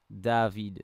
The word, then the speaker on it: Davide: yes I brought in two dope bass singers pronounced David okay let's check it out here we go